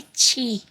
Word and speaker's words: ki: uh and monkey archie say chi but it's spelled key so my brain automatically